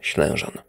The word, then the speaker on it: Ślężan: That is, of course, on the Polish pronunciation of Ślężan.